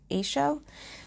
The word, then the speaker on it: Eigshow: EIG sh o W I've seen it being pronounced a show so they came in